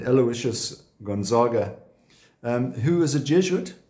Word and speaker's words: Aloysius: sent Aloysius was but it's not Saint Aloysius of course it is Saint Aloysius said Aloysius Gonzaga who is a